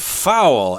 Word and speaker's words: fowl: That's a kind of fowl, F-O-W-L, which is another word for birds. Right. It's the same pronunciation as a foul in sports, F-O-U-L, but wow, it's completely different.